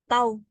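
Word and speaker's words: τ: Tahu. Hah, bacanya tahu.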